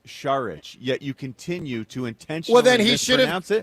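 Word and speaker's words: Šarić: So if your name is pronounced sharic yet you continue to intentionally well then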